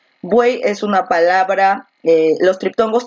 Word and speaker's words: buey: Buey es una palabra, los triptongos tampoco nunca se separan, entonces al tratar de separar buey se van a mantener todos juntos, entonces buey es un monosílabo.